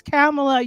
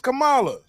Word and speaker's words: Kamala: that excitement like yes cameela yes you ain't even saying her name right it's Cala whatever Miss Harris Miss har